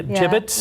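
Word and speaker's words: Jibbitz: Yeah, gibbets.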